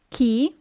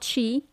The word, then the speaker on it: chi: Chi? Not chi, chi?